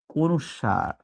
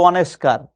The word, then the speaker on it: অনুস্বার: অনুস্বার। অনেকে উচ্চারণ করে অনেস্কার। অনেস্কার বলে কিন্তু বাস্তবে কোন শব্দ নাই।